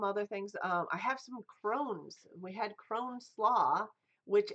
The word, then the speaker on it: crosnes: It's CROSNES. And it's pronounced Crohn's.